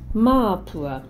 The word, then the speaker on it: Māpua: Say Māpua with a long vowel in the first A.